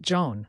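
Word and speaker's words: jaune: now let's look at Joan which means yellow picture the bright Sun or a field of yellow sunflowers Joan sounds like Zone with a soft J orange is both a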